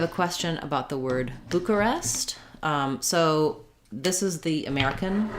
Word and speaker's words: Bucharest: an ah and then bucharest we do an e sound there bucharest um so boo ka rest first syllable stress um now this maybe